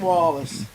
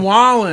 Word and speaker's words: Wallen: Morgan Wallace. Hear it Morgan every day. Wallen. Every day. So Morgan Wallace is in the house. Oh, with Lord. Morgan Wallen.